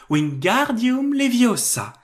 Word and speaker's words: Wingardium Leviosa: bien lens à hermione il faut dire wingardium leviosa en accentuant bien le gars tu n'as qu'à le